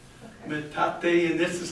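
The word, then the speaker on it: metate: and turned it over see that that's a matate you know Aztec word and the reason these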